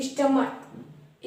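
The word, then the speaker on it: stomach: तर हु च है लेकिन जब सीच का उच्चारण का हो तब हम सिर्फ ए लगाकर उसको उसका प प्लूरल फॉर्म बना सकते है जैसे स्टमक स्टमक तो यहां इसका जो प्रोनंसिएशन है वो का है ठीक है तो यहां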